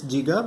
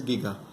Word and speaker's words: giga: Some people think it's giga, but no, it is giga.